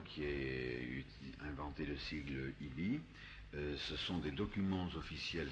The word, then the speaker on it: EBE: celle de l'existence des IBI, EBE, prononcé à l'américaine, Ça, IBI. EBE, Parce qu'en français, les EB, ça serait bizarre. Non. Alors, on dit Gaïti, pourquoi pas Ibi?